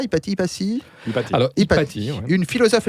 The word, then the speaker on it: Hypatie: La plus grande femme de tous les temps pour vous est Hypatie, ça on le prononce comme ça, Hypatie.